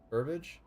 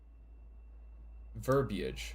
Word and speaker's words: verbiage: Maybe that is how it's pronounced. Are you sure? Verbiage? Verbiage.